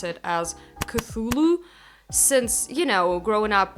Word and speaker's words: Cthulhu: entertained by the fact that you're supposed to pronounce it as cthulu since you know growing up with Russian as